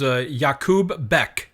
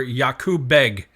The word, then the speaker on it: Yakub Beg: But an Uzbek, his name was Yakub Bek, or Yakub Beg, depending on how you pronounce it.